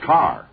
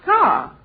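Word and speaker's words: Kerr: do you mean mistake it's spelled k e r r isn't it yes but in England it's pronounced car oh just like here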